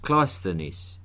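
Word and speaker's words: Cleisthenes: Glythenis, often pronounced Kleenis, had some very clear ideas about how Athens should be ruled.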